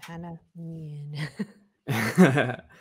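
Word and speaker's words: Hanne Mjøen: That's how you pronounce the name, Hanne Mjoen.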